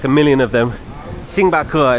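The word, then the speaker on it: 星巴克: a million of them sing bakur is how you say in Chinese sing bakur but I'm going to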